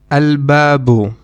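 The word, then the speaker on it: البابُ: al another example is al babu which means the door in this case you will also again you will pronounce the lam because ba is one of the moon letters now let's look at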